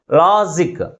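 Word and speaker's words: logic: second syllable ముందు ఉంచాలి for example లాజిక్ ఎన్ని సిలబస్ ఉన్నాయి దీంట్లో టూ సిలబస్ ఉన్నాయి ఏ సిలబుల్ ఎక్కువ ఫోర్స్ గా పలుకుతుంది ఫస్ట్ సిలబుల్ సెకండ్ సిలబుల్ కంటే ఎక్కువ ఫోర్స్ గా పలుకుతుంది కాబట్టి ప్రైమరీ స్ట్రెస్ ని ఫస్ట్ సిలబుల్ ముందు ఉంచాలి అంటే ఈ పదం దేనితో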